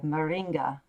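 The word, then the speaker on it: Maringá: of clinical psychology at the estate university of moringa and i know i mispronounced that i apologize marilia you can tell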